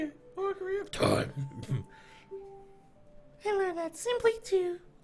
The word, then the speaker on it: Ocarina of Time: Ocarina of Time.